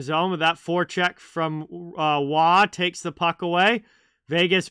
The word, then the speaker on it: Waugh: Well, actually, Nick Waugh on Vegas pronounces it Waugh.